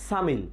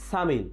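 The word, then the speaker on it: 삼일: আমরা যদি 3 তারিখ বলতে যাই সাম ইল, কিন্তু উচ্চারণ হবে কি সামিল, সামিল।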